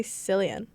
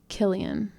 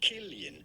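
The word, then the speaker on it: Cillian: Why did someone say Silian? It's pronounced Killian. Yep. Yes, it is to be pronounced Killian.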